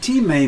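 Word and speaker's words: τιμή: greek word teammate and it's pronounced t-e-e-m-a-y if you like or m-a-i-t may and t-may means honor respect it's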